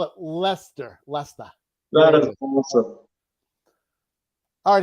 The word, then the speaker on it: Leicester: That's how it's spelled. I still can't even pronounce it the right way. So how would you even say that? Leicester. Okay, Leicester. We get that a lot. We just call it Leicester. Leicester. It looks nothing like that word.